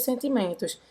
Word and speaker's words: sentiment: Não é para pronunciar o T nem o S, bravo, Guga.